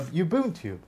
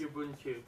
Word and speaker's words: Ubuntu: If you remove it, you have a Ubuntu, or an, you know, those free operating systems like Linux and stuff like that.